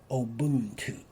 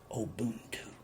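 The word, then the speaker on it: Ubuntu: practice they practice a system that was called obuntu oh boom two and you spell it u n b u t u and it is pronounced obuntu oh boom two and it means that all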